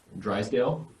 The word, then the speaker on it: Drisdelle: Yeah, it's a French version of a Scottish name. Drisdelle.